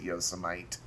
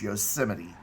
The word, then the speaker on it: Yosemite: the classy yosemite uh please don't pronounce it yosemite you're just embarrassing yourself you're embarrassing me if you pronounce it that way it's yosemite and it's a muscle